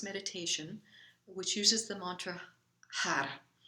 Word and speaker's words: har: which uses the mantra har it's spelled h a r and the tongue is rolled har or if you cannot roll your tongue then you say had so you want the